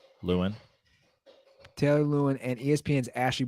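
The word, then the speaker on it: Lewan: dad is called out by Paige spiranac Taylor lawn how's it pronounced Lewin Taylor Lewin and ESPN's Ashley Brewer for sliding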